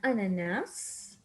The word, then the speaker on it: ananas: Une pomme, une banane, une orange, an ananas. Remember that here we pronounce the S in the end.